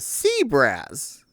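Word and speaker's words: CBRAS: It's C-B-R-A-S. And that's a sea brass.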